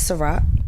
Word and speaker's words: Sa-Roc: Her name is Sa-Roc, like the drink. But not spelled like that.